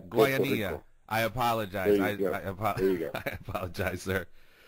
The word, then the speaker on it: Guayanilla: You just butchered I know. My hometown. It's called Guayanilla. Guayanilla.